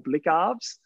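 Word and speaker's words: Blicavs: Blitzarves, I believe, or Blickarves. Blickarves is probably a better pronunciation of it. That's how it's pronounced.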